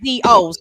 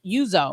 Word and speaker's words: Uzo: Well, her first name is Uzo. So I think it's Yuzo, right? Yeah, Yuzo. So Maybe so.